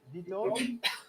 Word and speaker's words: Vitold: Is it Vito? Yes, it should be. Yes, my name is Vitold, but it sounds like we've got some trouble with the sound.